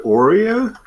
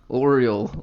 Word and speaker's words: Oriole: Did you just call her Oreo? I heard him call her Horeo. Oriole, like a bird. Alright, you know what? Just pronounce it Ariel.